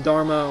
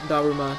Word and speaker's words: Daruma: Again, Dharma or Daruma, depending on if you want to pronounce it with an English whatever, or pronounce it the way a Japanese person would due to syllabic alphabet for the win.